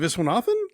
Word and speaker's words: Viswanathan: Is it Viswanathan?